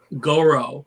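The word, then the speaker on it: Gaurav: Goro, like Goro. Goro. Okay. like go row your boat.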